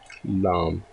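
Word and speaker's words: لام: Okay, so the next alphabet of today's lesson is lam.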